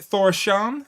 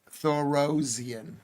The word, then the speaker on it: Thorosian: Is it Thorosan? No. Thorosian. Thorosian.